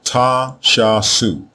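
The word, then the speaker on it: Ta Shasu: The pronunciation of these four glyphs is therefore Ta Sha Su, Ta Sha Su, which means land of the Shasu.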